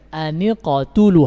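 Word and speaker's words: اقْتُلُوا: Perhatikan, aniqatulu, hamzanya tidak dibaca. Kenapa? Karena berada di tengah kalimat.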